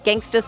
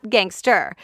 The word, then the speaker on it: gangsta: song gangsta's paradise well it's pronounced gangsta not gangster and a Jeffrey contestant learned that the hard way he thought he got the answer right but judges ended up coming back and saying nope he mispronounced the word by saying gangster apparently there are two